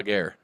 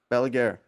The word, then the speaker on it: Balaguer: Balaguer. Balaguer.